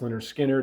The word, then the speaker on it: Lynyrd Skynyrd: huge success of the of the debut album pronounced Leonard skinnard in 1973 and the almost as equally successful